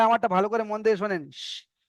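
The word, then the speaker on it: شين: এখানে সবাই আমারটা ভালো করে মন দিয়ে শোনেন। শিন। শিন, যেমন আমরা বাংলা থেকে বলে থাকি হাঁস। হাঁস, এই যে হাঁস, যে যে লাস্টে আসছে, যে উচ্চারণটা হাঁস, এই উচ্চারণটা এখানে হবে।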